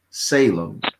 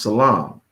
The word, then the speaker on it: Salem: more so today that those cities in states called Salem are really supposed to be pronounced Salam.